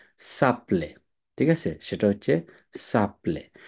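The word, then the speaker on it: s'appelle: এর জন্য আসলে এখানে প্রনোমিনাল ভার্ব হওয়ার কথা সো আপলে, কিন্তু উচ্চারণ করতে হবে কি? সাপলে।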